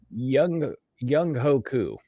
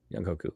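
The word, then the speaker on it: Younghoe Koo: about, I'm like, I'm pretty sure that's not pronounced like the way anybody has ever been saying it. Young Hoku. Yeah. Young Hoku.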